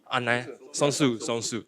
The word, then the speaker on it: Songsu: So coming up will be join us at Fast for All conference from Songsu. Did I pronounce it right? Yes. Songsu.